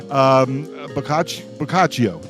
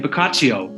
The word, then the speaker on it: Boccaccio: Boccaccio, right? Boccaccio. Yeah. I got it.